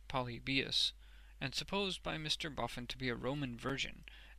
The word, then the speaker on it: Polybius: Hadrian, Trajan, and the Antonines, stumbling at Polybius, pronounced Polybius, and supposed by Mr.